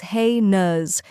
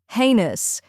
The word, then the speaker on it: heinous: the correct pronunciation is hey nuz let's break it down first we have ha A Y which sounds just like the word hey you feed to horses next is nuz which rhymes with bus now let's put it